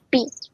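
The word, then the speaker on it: φ: se representa con la letra griega pink se pronuncia pi y su valor es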